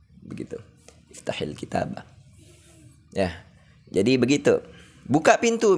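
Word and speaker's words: اِفْتَحِ الْكِتَابَ: Iftah di sini disukun. Tapi karena ini ketemu sukun, maka sukun yang pertama harus di kasroh. Jadi iftahil kitab. Begitu. Iftahil kitab.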